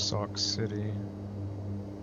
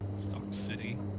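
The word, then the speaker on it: Sauk City: prusac and Sock City Sock City oh right it's not spelled like sock it's no s k right a lot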